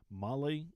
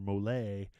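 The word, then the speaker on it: MOLLE: base structure yes and Molly is Molly not Molly or mole or Malay yeah there's no Bali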